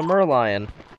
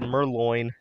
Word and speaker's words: Merlion: is this oh the merlion i realized that i pronounced it wrong said merloin huh let's bring that